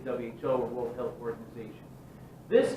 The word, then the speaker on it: WHO: The other big organization that you definitely need to know is, it looks weird, but it's WHO, the World Health Organization. Okay? They don't pronounce it as WHO. They say WHO, or World Health Organization.